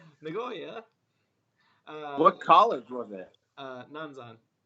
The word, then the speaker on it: Nagoya: It's pronounced Nagoya. Nagoya.